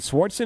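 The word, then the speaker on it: Swardson: say that Nick uh is it swartson is how you say yeah Nicks he's coming to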